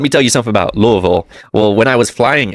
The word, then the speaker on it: Louisville: And let me tell you something about Louisville. Well, when I was flying in, of course, that this is not the the way to, or Louisville is the proper pronunciation of it, but I came in,